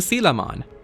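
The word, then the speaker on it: Kamemon: around I ran into camon which I am told is the right pronunciation of this digimon's name I know I've messed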